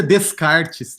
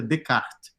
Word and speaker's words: Descartes: O primeiro cara que desenvolveu, assim, de modo mais rigoroso, a ideia de lei natural foi René Descartes, que não pronuncia Descartes, tá, gente? Pronuncia Descartes.